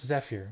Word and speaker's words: Zephyr: friend's YouTube channel, Swift Zephyr, when it is released. Also, I know that's not how you pronounce Zephyr, but he insists it being pronounced this way.